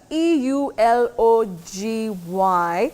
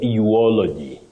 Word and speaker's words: eulogy: other one Willis uh e u l o g y how do we go about that one Betty what we should avoid is uy uy does not exist in English you say eulogy eulogy so that intrusive